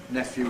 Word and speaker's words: nephew: the opinion poll preferring the pronunciation of nephew with an f and you can see